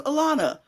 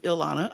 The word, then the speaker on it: Elana: my name they like oh your name was Alana and I like yes it's Elana how do you spell